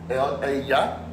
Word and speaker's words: ella: Notice ella has a double L and it's pronounced ya. The double L is a ya sound, ella.